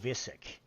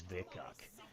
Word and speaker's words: Vikuk: Somebody had mentioned the other day Vika, that it was Visic, and it's not, because the actual game itself pronounces it in a storyline as Vikuk.